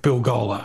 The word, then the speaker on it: Bilgola: But I wanted something to rhyme with Bill Gola. So I'm scratching my head going, well, what rhymes with Bill Gola? What rhymes? I know, hola. And that's a very beachy thing to say. So hola, hello, Bill Gola.